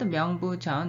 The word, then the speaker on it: 명부전: the name of the hall it is called myeong boo john in korean it is the korean pronunciation of chinese characters below literally the first